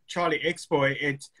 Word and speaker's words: CharlixBoi: But when I started CharlixBoi, people just started pronouncing it CharlixBoi, and I'm like, well, it's now too late to correct them, and I quite liked it.